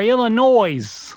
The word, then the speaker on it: Illinois: wait is Milwaukee in Illinois I never knew how to pronounce that state illa is it Illinois or Illinois there's no noise in Illinois that is the proper pronunciation you know that did